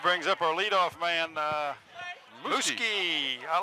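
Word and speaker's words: Muzquiz: And that brings up our leadoff man, Muski. I like that name. Well, how would you spell Muski? M-U-Z-Q-U-I-Z. You wouldn't think it would be pronounced that way.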